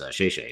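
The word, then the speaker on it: 谢谢: from my time in asia in mandarin is shayshe is that you say thank you yeah yeah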